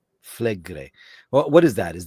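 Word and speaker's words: Flegrei: Fligre? Flegre.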